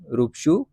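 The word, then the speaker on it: Rupshu: है उसका नाम है रुपू प्लेट उसका इसका स्पेलिंग है आर यू पी एस एच यू रूप शू प्लेट ओके तो रूप शु प्लेट जो है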